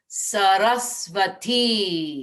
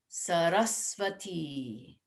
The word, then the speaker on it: Saraswati: And in case there's any question on how to pronounce her name, it's the final syllable that gets the emphasis. So and then the second syllable also gets a little emphasis. So it's Sarasvati.